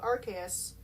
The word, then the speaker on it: Arceus: Mew was basically one of the first Pokemon creations of Arceus. I'm pronouncing it Arceus.